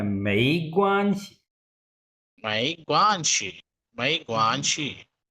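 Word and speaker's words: 没关系: याद रखिए मंसूर, ये मई नहीं, सेकंड टोन में मई, मई ग्वानसी, मई ग्वानसी। मई ग्वानशी। पूछे। ग्वान, ग्वान पे फर्स्ट टोन है, मई ग्वानसी।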